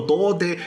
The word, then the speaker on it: 童帝: 原来啊，童帝这个词在日文里面的发音叫做多德，也就是跟处男是同一个发音啊。